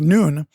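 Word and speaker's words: ن: Iraq they began putting the Arabic letter of n uh which is uh pronounced noon on the homes and businesses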